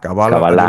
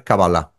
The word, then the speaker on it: Cábala: no me decías bueno se puede pronunciar cala cabalá cabala lo he escuchado de todo en hebreo original Es cabalá cabalá okay Y bueno creador